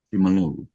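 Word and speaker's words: Simeulue: Penyu khususnya di pantai along S Meu lewe bacanya benar Ya simelu simelu simelu silakan mas dadah oke halo semua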